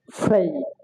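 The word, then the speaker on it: fray: যেমন ফি আর এই ওয়াই, ফ্রেই, ফ্রেই, ফ্রেই, এখানে আর এর উচ্চারণ হওয়ার কারণটা কি আর এর পরে এ ওয়াই, এই হচ্ছে পিওর ভাওয়েল, পিওর ভাওয়েল, আর ওয়াই হচ্ছে সেমি ভাওয়েল, যার কারণে কি আর এর উচ্চারণটা এখানে হচ্ছে।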